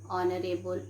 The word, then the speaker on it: honorable: pronounce our okay what do we pronounce we pronounce our an honorable man and honorable man okay so um word